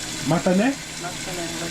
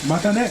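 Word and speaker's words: またね: Matan. Matan.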